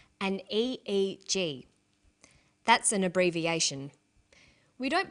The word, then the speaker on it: EEG: whether it's an abbreviation or an acronym an EEG brain scan helps answer that say the Swinburne researchers he says an EEG that's an abbreviation we don't pronounce it eeeek we say aeg aeg stands